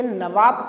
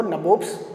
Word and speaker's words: नवाब: ये नवाब का ही एक प्रोनाउंसिएशन था, गलत प्रोनाउंसिएशन था, तो उनको लैंग्वेज में नहीं बोलते आता था उनको नवाब्स, तो वो नबोब्स बोलते थे।